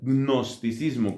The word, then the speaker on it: gnosticismo: Un segundo error que tiene que ver con el dogma es el gnosticismo, que se escribe con una G inicial, gnosticismo, como si uno dijera.